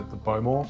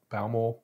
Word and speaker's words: Bowmore: Not overly smoky, not overly peaty, given that we're using the Bowmore, which is Bowmore, however you want to pronounce it.